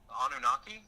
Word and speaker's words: Anunnaki: The Anunnaki, is that, how do you say it, Stephen? Anunnaki? Anunnaki, that's it.